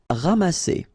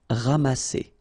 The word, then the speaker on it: ramasser: Ramasser. Remember, double S here between two vowels. Here you get a strong S sound, okay? Ramasser.